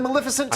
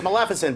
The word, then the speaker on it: Maleficent: Maleficent uh simply because you almost said Maleficent I know I know it's hard hard time for that all time I know I'm always correcting people it's Maleficent but it's so hard